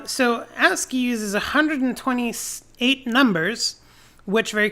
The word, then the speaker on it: ASCII: I say ASCII. I think most people pronounce it that way these days.